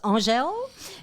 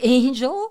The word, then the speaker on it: Angèle: And it's pronounced like Danielle or Michelle, but it's Angèle. Like Angel. Some people say Angel.